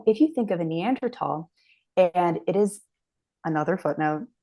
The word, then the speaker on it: Neanderthal: another footnote neander not Neanderthal because in Germany which is where the first neander tal was ever discovered Germans don't pronounce the th sound they pronounce it t so neander Valley neander